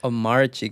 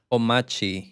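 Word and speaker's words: Omarchy: No, it's not Omarchi, guys. Did you guys watch the Primogens video? It's Omachi. You don't pronounce the R.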